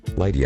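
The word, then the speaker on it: 月: of death note together lighty agony this boy is the main character write moon and chinese characters and pronounce it light he is the main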